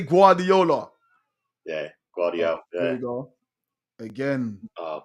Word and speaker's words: Guardiola: There's that Guardiola.